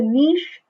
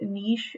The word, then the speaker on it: niche: like i said um you may hear it pronounced niche you may also hear it pronounced niche um i've always i've always been taught niche so i'm going to continue to call it niche so when we talk